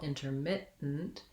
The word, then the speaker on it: intermittent: You don't really want a lot of emphasis. And then we have our lax I vowel in our mit syllable, intermittent. This T, I will typically, and Americans will typically use a stopped T, which means that I don't say mit and release the air.